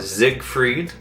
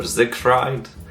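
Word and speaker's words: Siegfried: but I'm talking about Zig freed he can be spelled with a s or a z a zig freed or Zig fried so I thought he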